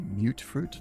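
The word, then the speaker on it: mutfruit: Dirty water, fancy lad snacks, and mute fruit or mut. I think it's supposed to be mute fruit the way it's a lot of the characters in the games pronounce it, but it looks like mut.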